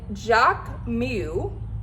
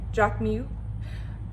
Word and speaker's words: Jacquemus: had to have them so they are the jock mew okay jack mu i think that's how bianca said to pronounce it um jack mu